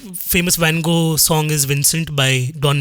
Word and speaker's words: Van Gogh: Because Van Gogh rhymes with mango.